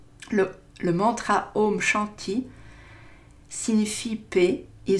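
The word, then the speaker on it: Om Shanti: lumière éveillé alors le home shanty le mantra home shanty signifie paix et se prononce comme home comme le précédent et chante i comme jeanne t-il voilà donc sur internet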